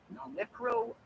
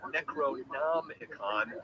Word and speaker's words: Necronomicon: Because he switched a couple letters around. Yes, yeah. It is a malapropism of H.P. Lovecraft's fictional Necronomicon of Alhazred.